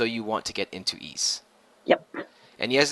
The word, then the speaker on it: Ys: It's called officially so you want to get into East. Yep. And yes it's pronounced east not wise not ease. It it's it's it's like you It's like you say the word geese but drop the G, but you don't say